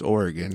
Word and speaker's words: Oregon: Oregon first of all I'm super proud of you for pronouncing Oregon correctly that was really good I usually have to correct people and I was gearing myself up to say it's Oregon not Oregon oregano yeah when I moved